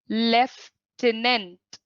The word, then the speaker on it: lieutenant: The correct pronunciation of this word is lieutenant.